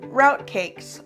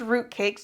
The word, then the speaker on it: rout cakes: We're going to be making rout cakes, or they could be pronounced root cakes depending on how you want to pronounce them, but it's spelled R-O-U-T without an E.